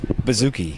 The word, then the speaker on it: bouzouki: Why the hell doesn't he know how to pronounce that? Bouzouki.